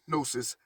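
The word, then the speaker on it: gnosis: of view with different Visions experiences and personal nosis GN o s i s you should already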